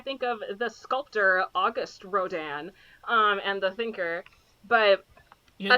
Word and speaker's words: Rodin: It's because it's spelled like Rodin, but it's pronounced Rodin because he's French.